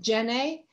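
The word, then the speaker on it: Djenné: again this is the mosque of jenae which is spelled j-e-n-n-e sometimes with a d in front of it and you can see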